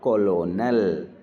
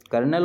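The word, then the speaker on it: colonel: और कॉलोनल, कर्नल होता है वैसे इसे कर्नल पढ़ते हैं, और क्या लिखा हुआ है, कॉलोनल।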